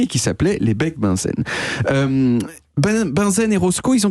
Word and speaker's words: Bunsen: Vous savez comment on prononce Bunsen en français ? Le bec benzène. Benzène, exactement. Et c'est le même monsieur